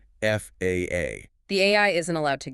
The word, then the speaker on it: FAA: Meanwhile, the FAA, the Federal Aviation Administration in the US, must be spelled out letter by letter, FAA.